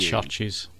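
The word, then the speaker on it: Chvrches: It is the new album from Churches, which is spelt Churches but with a V instead of a U. Churches.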